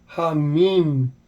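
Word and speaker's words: המים: So this would be pronounced as the He gets a breath sound, a H. The Mem is a M, Yod is a I, and the Mem is an M sound. So Hamim, Hamim.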